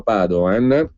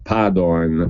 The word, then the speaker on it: Padoan: Il ministro Padoan, che non ha alcuna lontana origine veneta per cui si pronuncia Padoan e non Padoan, sia ben chiaro, perché